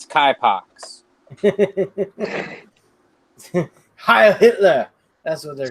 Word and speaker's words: Knipex: I still have never used a Knipex plier.